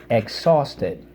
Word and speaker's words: exhausted: pause Ted exhausted okay and again just remember with that second syllable let out that breath let's underline the H twice the or and the ED and it comes from the word exhaust okay like the exhaust on